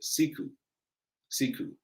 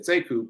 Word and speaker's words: Sekou: the same name he pronounces it differently he pronounces it siku siku but it's spelled the same so when i came along i said seku people asked me how to spell they're like